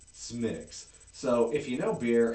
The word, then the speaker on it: Smithwick's: So, because it looks like Smithwick's, but it's pronounced Smithwick's.